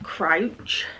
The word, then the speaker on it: Crouch: Also, because of that video, I wanted to pick up Dark Matter by Blake Crouch.